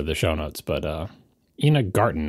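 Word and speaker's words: Ina Garten: show notes but uh Ena Garten not Ena Gartner sorry I get her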